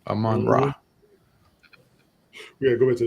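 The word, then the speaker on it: Amon-Ra: Aman yeah Aman St Aman ra St Brown Aman ra yeah I always miss that Sy second syllable Aman ra we got go back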